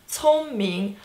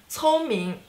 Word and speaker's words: 聪明: So 聪明, first tone, second tone. 聪明, 聪明, 聪明, 聪明, clever, smart. Okay, 聪明, first tone, second tone. 聪明, you're very smart.